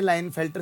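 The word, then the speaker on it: Klinefelter: तो ये स्टेटमेंट इससे रिलेटेड नहीं है, लाइनफेल्टर सिंड्रोम से रिलेटेड नहीं है बेटा, के साइलेंट है, तो पहला गलत।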